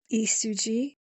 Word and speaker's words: Lee Su Ji: It was I believe Isuji. I know Lee is pronounced in Korean as Isuji. So hopefully I said that all right.